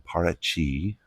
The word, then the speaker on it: Paraty: Now, we're at a hotel in Parachi. It's spelled P A R A T Y in Portuguese.